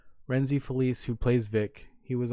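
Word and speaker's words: Rhenzy Feliz: forget how to say his last name Rene reny Feliz sorry I was saying it wrong renzy Feliz who plays Vic he was on an interview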